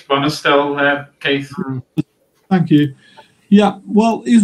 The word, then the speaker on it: Bonestell: By the way, I don't know how to pronounce his name, whether it's Bonestell or Bostell, but does anyone know? I think it's Bonestell, Keith.